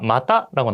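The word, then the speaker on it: また: 자, 마타라고 나왔는데요. 마타라고 하면은 또 혹은 또한이라는 뜻이에요. 여러분들 여기서도 발음 주의해 주세요. 자, 마다라고 하는 거랑 마타라고 하는 거.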